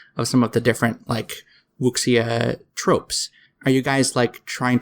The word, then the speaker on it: wuxia: Oh, by the way, the term is pronounced wuxia. So Wuxia. anytime Thank you. X in pinyin, like Chinese pinyin, is always pronounced like sh in English.